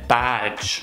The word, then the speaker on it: badge: на английский, то они говорят beige, а не badge. Потому что у вас есть beigeик. И когда вы говорите beige, в английском языке это звучит как цвет beige. Я сейчас вот покажу, как выглядит beige. Поэтому не забудьте, что если у вас есть beigeик в русском языке, вы хотите это говорить в английском, просто сказать badge, открытый рот.